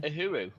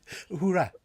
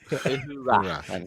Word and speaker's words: Uhura: It's a Uhuru. So it's a statue. and that's not quite right now, Peter. Is it? Is it Simon? Uhuru? Is it Uhuru? Uhura. Uhura. Yeah.